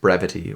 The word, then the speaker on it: Brevitē: is is a brevity brevity pronunciation brevity is pronounced brevity which means clear and concise brevity that's right